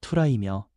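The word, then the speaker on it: θύρα: 문이라는 헬라어 발음은 투라이며 우리의 마음과 존재 전체를 의미합니다.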